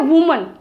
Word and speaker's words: women: वुमन, ठीक है, WOMAN, इसको क्या प्रोनाउंस करोगे आप? वुमन, ठीक है। और इसका प्लूरल अगर हम बनाते हैं तो WOMEN, ये क्या बन गया? विमेन, विमेन, ठीक है।